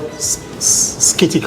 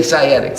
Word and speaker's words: sciatic: And I call it skitica or whatever. You know, it's spelled spelled like c a t i scanic. Say sciatic.